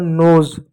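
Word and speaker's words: nose: है गुलाब उसी प्रकार नोज नोज मींस होता है ना जैसे एन ओ एस ई एन का न लिख दिए ओ का ओ की मात्रा लिख दिए एस का ज लिख दिए नोज ई साइलेंट रहा इ को कभी नहीं पढ़ते हैं ठीक है प्यारे बच्चों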